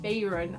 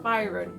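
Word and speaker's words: Bayron: cinderella is dead by kailyn bayern i think that's how you pronounce it i always call it byron i'm not sure why because there's definitely an a in there this is a cinderella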